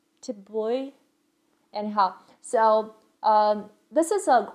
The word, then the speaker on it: Thi Bui: I actually Googled it and tried to pronounce it. It's Thi Bui.